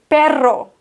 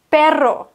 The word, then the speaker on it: perro: wird es unterschiedlich ausgesprochen mit zwei R müssen wir auch wirklich stärker Rollen el perro perro mit einem R rollen wir viel sanfter pero pero perro pero und da musst